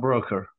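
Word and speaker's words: Broeker: It's either Broker or Brooker or We knew him as Pat Broker.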